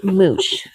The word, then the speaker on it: Mootsh: And the company is called Moosh. M O O T S H. I think that's how you pronounce it.